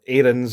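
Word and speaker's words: Aarons: But we've got our Kieran Tierney who we've obviously put in an evil Max Arenss or Arenss is how he's being pronounced whenever I've seen anybody commentating on a Rangers game.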